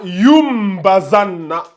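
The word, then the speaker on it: لينبذن: On a juste mis ça pour que vous voyez comment ça se prononce, la prononciation. Yumbazanna. Mais ça s'écrit comme ça. La yumbazanna. Pourquoi? Parce qu'il y a le ba qui vient après le nun sakina.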